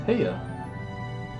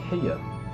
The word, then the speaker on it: Heya: Not really emphasis on the ya. I mean, it's Heya. It's like two... It's like Heya. Heya! It's like maybe two uhs at most.